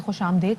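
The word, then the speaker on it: خوش آمدید: अच्छी है तो मैं खुशामदेद क्यों ना कहूँ, क्योंकि मोस्टली हम लोग खुशामदीद कहते हैं ना, सो इट्स नॉट खुशामदीद, इट्स खुशामदेद, मतलब गलती करते हैं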